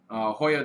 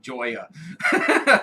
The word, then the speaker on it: Joya: you pronounce it the way that somebody who doesn't know how to pronounce it would pronounce it. Joya. Joyo de Nicaragua, Hoya. yes.